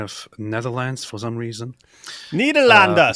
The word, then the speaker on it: Nederland: Nederlanden, say it right.